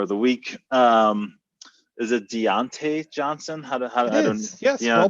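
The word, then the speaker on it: Diontae Johnson: Is it Deontay Johnson? Yes, well pronounced.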